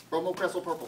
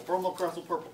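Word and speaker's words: bromocresol purple: say it like 50 times with me no bromo crestle purple bromo crestle purple come on get it into your head bromo crestle purple I almost guarantee that's going to be a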